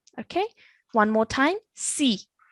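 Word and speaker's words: صِ: So when we say it with a kasra, it still needs to have that heavy sound. Okay. Si.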